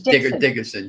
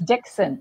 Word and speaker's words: Dixon: from Kathy Dix dick I thought your name was Dickerson Dixon it's Dixon dickon was great author yeah